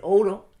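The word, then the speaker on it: ouro: brazil or portuguese so if you pronounce it it's said quickly it says odo it sounds the same as oro so all of a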